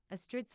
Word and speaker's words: Astrid: Astrid's first name is pronounced like pastry.